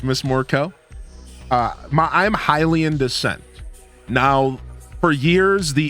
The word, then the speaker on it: Hylian: it's been confirmed that you pronounce the word as Hilian. It is Hilian descent. Helian is not a thing.